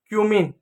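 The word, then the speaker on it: cumin: अब आपको लगेगा यहां पर तो सी है तो कैसा? देखिए दोस्तों जो सी होता है उस सी का उच्चारण स भी होता है क भी होता है। जैसे क्लास क्लास में आप सी आया तो उसको आपने क पढ़ा। ठीक है? तो स और क दोनों होता है।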